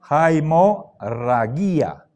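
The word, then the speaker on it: αἱμορραγία: Ay sino siempre que hay espíritu áspero tenemos que pronunciar una J delante Hai Hai haimor ragia ganma siempre es sonido de G suave guía no digan gia ha morragia transcribimos transcribimos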